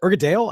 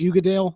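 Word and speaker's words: Uigeadail: It's Ugadale. It's called. I think it's called Ugadale or Ugadal, one or the other. But it's spelled Uigeadal.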